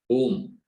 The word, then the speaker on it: Om: is chosen for chanting om is constituted of to form o together is pronounced as om even the mute can